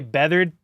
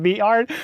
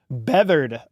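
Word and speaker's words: Beathard: Okay, Beathered. Thank God, dude. You guys are correcting me because someone said Beat Hard.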